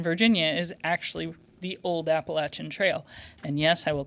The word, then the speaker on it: Appalachian: And they're like, "It's Appalachian." And I'm like, well, if you say apple appellation, then I'm going to throw an apple at you. That's how you say it.